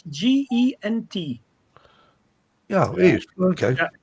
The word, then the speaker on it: Gent: is it actually spelled Gent or Ghent? It's in Belgian Yeah. language. It's Gent. Yeah, it is. Okay. Yeah, and Ghent.